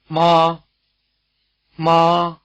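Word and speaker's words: 妈妈: Mama which means mommy by the way the week's second syllable in mama is not in one of the four tones it's said to be toneless or in the neutral tone we'll take this up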